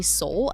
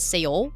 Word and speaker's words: Seoul: Like for instance, apparently you're supposed to say Seoul and not Seoul, even though in the Netherlands everyone says Seoul. That's the way that we pronounce that city's name, but it's supposed to be Seoul.